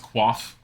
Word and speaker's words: coif: do you love how koif isn't pronounced coiff and it's still instead pronounced quaff I hate you